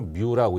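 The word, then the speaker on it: μ: 그래서 요 글자를 이제 그리스 문자로 뮤라고 읽습니다. 뮤.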